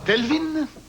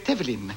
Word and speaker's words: Tevlin: Pas Telvin, ni Tivin, mais Tevlin. Le V se met avant le L.